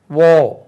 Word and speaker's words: war: van, wow, VOW wow, war, WAR war, அது வார் இல்லை ஓ.